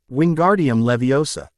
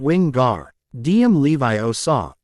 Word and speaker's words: Wingardium Leviosa: arms like a windmill you're saying it wrong Harry heard Herm snap it's Wing gar DM Levi o saw make the gar nice and long you do it then